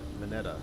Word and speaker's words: Mineta: Mineta is Japanese name, and Japanese pronounce how it's spelled. Mineta.